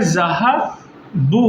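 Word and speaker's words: ذهبوا: ठीक, कोई तब्दीली हुई, गोया कि ये जो चीज़ें हैं, वाव, इस वाव में अलिफ को हम प्रोनाउंस नहीं करते हैं।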